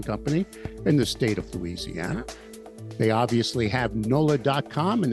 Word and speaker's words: Louisiana: Louisiana. Judy Terzadis, who's been on this program before. She is publisher of Georgia's Media Group, the largest local news publishing company in the state of Louisiana.